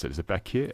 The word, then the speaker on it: Baku: I guess, pronunciation is Baku, but the way that it's rendered and it's not a U in Azerbaijani, it's like an I without a dot, and which is more of like a sound.